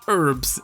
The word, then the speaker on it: herbs: the world such as herbs which have just found out is pronounced herbs in the US that sounds so much cooler than herbs herbs I love it I